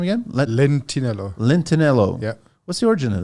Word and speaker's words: Lentinello: How do you pronounce the last name again? Lentinello.